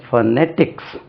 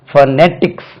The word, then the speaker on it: phonetics: ஒன்று ஃபனெட்டிக்ஸ், stress lies on the second syllable. ஃபனெட்டிக்ஸ் அதாவது study of sounds, ஃபனெட்டிக்ஸ். இனி ஒன்று ஃபௌனெட்டிக்ஸ். இது பாருங்க, இப்படி எழுதியிருப்பாங்க. அது ஃபௌனெட்டிக்ஸ், phonetics.